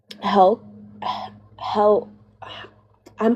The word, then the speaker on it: Helle: Um it's like H E L L E Hela Crafts. Um, yeah, it's Hela Crafts.